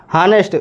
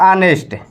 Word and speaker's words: honest: हानेस्ट। वैसे तो पढ़ना होगा इसको HONEST, हानेस्ट पढ़ना होता है, लेकिन उसका उच्चारण क्या होता है बाबू? तो इसका उच्चारण होता है ऑनेस्ट।